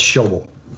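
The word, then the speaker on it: Schäuble: That's Schauble.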